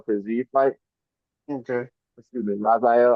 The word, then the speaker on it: Rafael: Excuse me, Rafael. I always say Rafael, but I'm pretty sure he pronounces it like that.